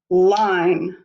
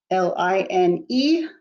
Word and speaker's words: line: it will say lin make sure you put the silent e at the end so it will say line l-i-n-e line eleven what